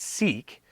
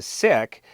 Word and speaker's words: Sikh: in this group, who honestly believe that it's pronounced Sikh as opposed to Sikh.